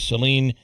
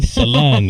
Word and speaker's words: Sen: And in studio right now, uh, is Seline or? How do I How do I but it's it's Sen is the tricky part. My first name. Sen.